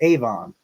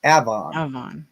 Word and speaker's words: Avon: most people yeah Avon people say Avon but here we say Avon yeah Avon New York